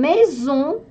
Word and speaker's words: maison: Une maison – сочетание. «Э» и буква «С» между двумя гласными читается «З». Une maison – дом.